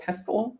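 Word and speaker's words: pestle: say the kettle and the mortar and uh pestl pestl is that's how it's pronounced also the vinegar and oil bottle but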